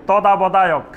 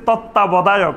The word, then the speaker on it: তত্ত্বাবধায়ক: ওরা খবর বলার সময় বলতো তদাবদায়ক মানে আমরা যে বলতেছি তত্ত্বাবধায়ক শব্দটা কিন্তু কঠিন আছে বাংলা কিন্তু অনেক